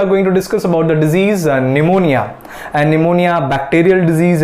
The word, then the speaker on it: pneumonia: निमोनिया अ मैं अपना निमोनिया जो है जिसका नाम में पीस साइलेंट है तो पूनिया बोलेंगे तो पता नहीं साइलेंट हमें तो अभी क्योंकि